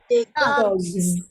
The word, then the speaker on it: dogs: G is voiced because I can feel vibration. Dog, giz, giz. So I'm going to add a Z sound at the end there. Dogs, dogs. Another example is owns.